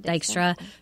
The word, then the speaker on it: Dykstra: not gonna say her name right Chloe dick Dijkstra Dykstra Dykstra who was dating TV personality Chris Hardwick and